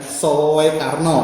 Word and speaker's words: Soekarno: Mungkin Pak Eko pernah tahu diftong OE dibaca U. Oh iya. Iya kan? Ada kan? Iya. Misalnya Soekarno.